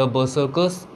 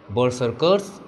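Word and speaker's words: berserkers: द बर्सर्कर्स, इसको आप चाहें तो दो प्रकार से प्रोनाउंस कर सकते हैं, बर्सर्कर्स या बर्सर्कर्स, ओके।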